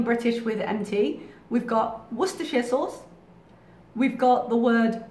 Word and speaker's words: Worcestershire: It's Worcestershire sauce, not Worcestershire.